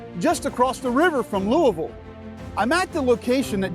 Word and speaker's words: Louisville: how we say it in kentucky you may pronounce it as louisville or louisville but we call it louisville with 179 men george rogers clark stepped off